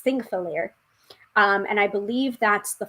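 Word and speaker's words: Þingvellir: This is one of the places that I mispronounced. Thingvellir. I kept on pronouncing it Pingthairlair, which is not correct.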